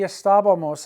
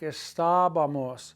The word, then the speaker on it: estábamos: We know that the estábamos has an accent on that A, the third vowel back, estábamos, because it breaks the two rules of pronunciation. No word, three vowels back, should ever be stressed. There, three vowels back. So it breaks the rule, it gets an accent mark.